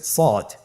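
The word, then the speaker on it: صاد: শুরুতে আমরা শুরু করছি সদ। সদ হরফটি পুর হরফ। মোটা হরফ উচ্চারণ ক্ষেত্রে মোটা করে পড়তে হবে এবং উচ্চারণ করার সময় তিন আলিফ টেনে পড়তে হবে। আপনারা আমার সাথে বলুন সদ আবার বলুন সদ।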